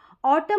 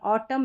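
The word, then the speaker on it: autumn: हो रहा है म ऑटम में भी ऐसा है ऑटम में भी ऐसा है यहां पर भी ऑटम एन यहां पर साइलेंट है यानी कि एम एन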